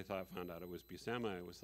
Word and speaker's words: Buscema: been calling him john buscema and when i thought found out it was busama it was like oh it's pronounced like my name and i didn't even